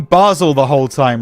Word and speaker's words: Basel: Basel it is.